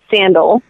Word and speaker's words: Sandahl: mine si NBA gel she just pronounces it sandal Bergman and that's actually whom I was named dr.